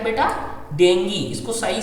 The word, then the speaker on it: डेंगू: तो जो पढ़े लिखे लोग होते हैं वो डेंगी बोलते हैं, और जो लोग बहुत ज़्यादा पढ़े लिखे नहीं होते वो क्या बोलेंगे, डेंगू, ठीक है।